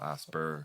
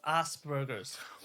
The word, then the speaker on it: Asperger's: So, like, the name is pronounced Asperger's, like a snake. Okay. But the Americans don't pronounce it that way. So it's asp. They just pronounce it as. Oh. Asper.